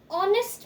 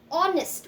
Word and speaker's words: honest: using an then an honest man again honest we never say honest right h is silent here so because the sound